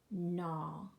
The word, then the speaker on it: gnaw: So you can note in all of these words that the first consonant is silent.